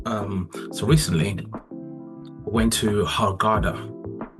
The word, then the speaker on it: Hurghada: So, um so recently went to Harada uh in Egypt or Harada as you as they pronounce it in Egypt.